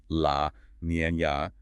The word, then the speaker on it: La Niña: Driven by a persistent atmospheric drought, often linked to transitions into a La Niña, pronounced La Niña, pattern, the central plains dried out.